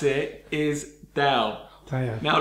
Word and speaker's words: Tao: The way you pronounce it is Tao. Now, like the word Dow Jones, Tao.